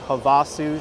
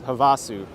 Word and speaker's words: Havasu: part of the country in Arizona called Lake Havasu City.